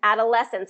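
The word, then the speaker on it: adolescence: there you go good adolesence and it's third Sy stress so yeah adolesence adolesence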